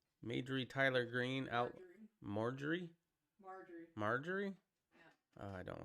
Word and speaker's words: Marjorie: Majorie? Is it Majorie? Majorie Tyler Green out. Marjorie? Marjorie? Yeah. Oh, I don't like that name, or at least how it's spelled.